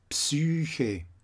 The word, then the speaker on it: Psyche: And here, in the green, the epsilon, is spoken in German as a nü, ü, like here, Psyche, die Psyche, Psyche.